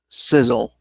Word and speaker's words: SSL: side of Love campaign also known as SSL and pronounced Sizzle okay it is based